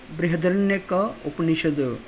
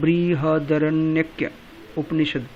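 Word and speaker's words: बृहदारण्यक उपनिषद: बृहदरण्यक उपनिषद, बृहदरण्यक उपनिषद। इसको बोलना थोड़ा सा मुश्किल है, आप बोल सकते हैं बृहदरण्यक उपनिषद।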